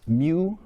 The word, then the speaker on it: mu: Let's talk specifically about what's pronounced mu receptors.